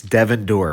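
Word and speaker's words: Devendorf: Devon Dorf, Adam is one for three in pronunciations. It's Devon Dorf.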